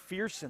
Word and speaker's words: Fearson: Yeah, when we was a freshman, I used to say, "What's up, Ferson?" I say, "Bro," he said, "Bro, it's Fearson."